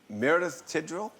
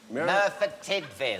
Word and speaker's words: Merthyr Tydfil: In, how do you say, Meredith Tidwell? Merthyr Tydfil. Merthyr Tydfil, yes. That's it, yes.